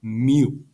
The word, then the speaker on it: mu: lowercase greek letter called mu that's how we pronounce it mu okay all right now sometimes average is very